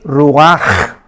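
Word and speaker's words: רוּחַ: hebrea para espíritu es Roach pero la ch en hebreo se pronuncia como J es rugajá como j y murió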